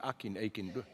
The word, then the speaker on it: Akin: Responding to this fury, Akin, how do you pronounce the name? Akin.